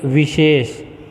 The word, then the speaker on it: विशेष: ये विशेष, ठीक है, इसमें वी है वाह, लेकिन जो शाह है, शाह ये बीच में जो है और इसका उच्चारण करते हैं हम, तो ये वाले शाह का उच्चारण किया जाता है, तो ये अशुद्ध माना गया है।